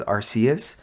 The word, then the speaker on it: Arceus: We got Pokemon Arceus, Pokemon Legends Arceus, which my dumbass has been saying it as Arceus.